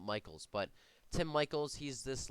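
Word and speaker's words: Michels: I've some people pronounce it Mickles. I've always heard it Michaels, so I'm gonna call it Michaels.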